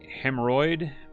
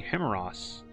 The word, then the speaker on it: Hammeross: Find the Lord of Air in his complex, Hemorrhoid. Lord, I'm afraid that you've mispronounced my name. It's supposed to be Hammeross, the mage instructor said.